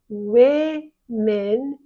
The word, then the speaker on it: women: woman more than one we pronounce women even though that's an O we pronounce it as though it were a short e women or even a